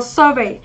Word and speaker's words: survey: Nào, câu số 1 thì chúng ta có survey. Survey thì các bạn sẽ có trọng âm cho rơi âm tiết thứ mấy? Thứ nhất.